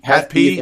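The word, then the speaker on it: HAT-P: Hat P.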